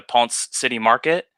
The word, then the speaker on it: Ponce City Market: glass in Atlanta at the, I think I'm pronouncing it right, the Ponce City Market.